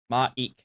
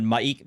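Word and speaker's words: M'aiq: fans um yes it's basically uh the the pronunciation is maek oops there maik I said maik the liar um he uh is an NPC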